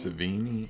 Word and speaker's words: Sevigny: Savini.